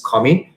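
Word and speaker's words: commis: the right we have commie c-o-m-m-i-s is a french term so this is pronounced as comi then you have the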